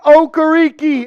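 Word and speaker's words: Okereke: been corrected on how to say it Bobby okariki I am very curious what this contract is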